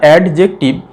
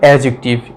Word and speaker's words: adjective: আচ্ছা, এই যে আমরা অ্যাডজেক্টিভ, এটা কিন্তু ভুল উচ্চারণ, অ্যাডজেক্টিভ নয়। এ আর জে এর মাঝে যে ডিটা আছে সেটা কিন্তু উচ্চারণ হয় না, এটা আমাদের তাহলে কি উচ্চারণ হবে? অ্যাডজেক্টিভ।